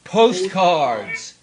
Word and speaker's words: postcards: the book and the postcards is one of those compound words where the first syllable has to stress postcards HST cards this word